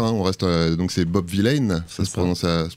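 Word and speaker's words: Vylan: On reste, donc c'est Bob Vilaine, ça se prononce comme ça.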